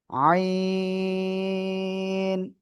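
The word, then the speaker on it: عين: জায়গা থেকে উচ্চারিত হবে গলার মধ্যখান থেকে চেপে এক আলিফ না তিন আলিফ না চার আলিফটা নিয়ে আমরা এ অক্ষরটা উচ্চারণ করব আইন আইন আইন আমরা এভাবে উচ্চারণ করব আশা করি আমি আপনাদেরকে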